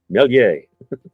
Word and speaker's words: Méliès: Is it Mealy? Méliès.